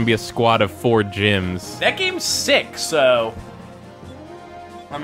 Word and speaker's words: GM: the cover of this game is like four gyms which are like the bootleg Gundams that you